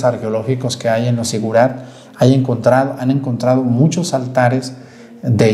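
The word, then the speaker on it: zigurat: Dice, corresponde al Sigurat. ¿Se acuerdan esas edificaciones asirias? Esas edificaciones que existían, que fueron llamadas Sigurat, con Z, así se escribe, Sigurat.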